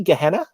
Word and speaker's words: Gehenna: Am I pronouncing it correctly? Gehenna? Yeah. So Gehenna, actually, I had the idea for Gehenna at the same time as cadaverific.